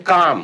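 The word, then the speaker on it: calm: इज तो cot then काम काम का मतलब होता है शांत तो सी ए एल एम काम काम काम का मतलब शांत काम तो इसमें एल साइलेंट है एल नहीं आ रहा है एंड टॉक टी एल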